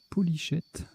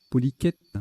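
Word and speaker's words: polychète: Hyperbole, hydrocèle, hylochère, polychette. Qu'est-ce que c'est? Polyquette, ça se prononce, polyquette.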